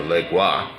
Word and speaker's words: Legba: So, that's a Legba, or pronounced a Legwa, and again, like I said, he is the energy of choice.